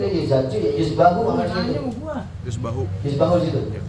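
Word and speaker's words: يذبح: Yuzbahu itu. Sehingga dia bacanya ya zal jim. Harusnya ya zal ba jim. Ba gitu. Yuzbahu bukan yuzaju. Ada yang bacanya yuzaju. Harusnya yuzbahu.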